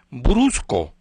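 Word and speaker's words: Brusko: La autora se llama Marlene, se pronuncia Marlene Brusco, con B grande, R-U-S-K-O, Brusco.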